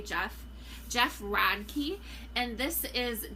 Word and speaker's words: Geoff: Is this Geoff? Geoff, like another way to say Geoff.